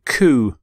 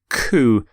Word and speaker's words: coup: constitution legislation code charter here's your next word ku ku when there is a coup a group of